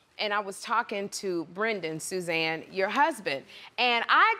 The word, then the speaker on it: Brendan: and somebody was like, it's not, it's Brendan. And I said, what? And they said, no, it's Brendan, it's not Brandon. And I said Brendan, and they said, no, you said it wrong.